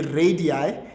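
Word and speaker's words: radii: Uh no no no it's actually radi because that's plural for radius.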